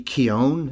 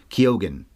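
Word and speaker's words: Keoghan: guess right girl and Barry keone I guess is how you say it we've been saying it wrong oh that's how you say 12 different ways Keegan I don't know apparently it's kyogen that's what I was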